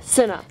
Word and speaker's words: Cinna: There's also Cinna. Okay. That's how you say it. Yeah, Cinna.